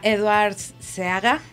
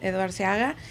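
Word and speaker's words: Edward Seaga: por otro lado está edwards se haga no se pronuncia eduard se haga pero entonces michael manley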